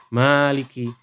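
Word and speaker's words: مالك: hanyalah milik Allah saja jadi ada yang membaca Maliki yaumiddin itu maliknya itu pendek nada yang baca maliknya itu panjang bila yang membacanya membaca maliknya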